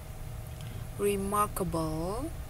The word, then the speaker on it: remarkable: bukan Yes folk yes remarkable remarkable karena ini Mark bukan bukan remake tapi remark yes remarkable eh fine